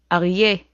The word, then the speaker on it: Aryeh: Aryeh. That's a lion, aryeh. The a sound comes from the throat.